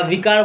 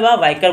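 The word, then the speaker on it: vicar: উপর আরেকজন থাকে সেটাকে বলা হয় ভাইকার বা ভিকার বলা হয় ঠিক আছে অনেক উচ্চারণ ভিকার বলে বলা ভাইকার বলা হয় না ভাইকার কে ভাইকার বা বিকারটা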